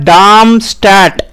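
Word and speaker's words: Darmstadtium: पहली बार बनाया गया जर्मन भाषा में इसका जो उच्चारण होगा वह होगा डामस्टट डाम स्टट एटॉमिक नंबर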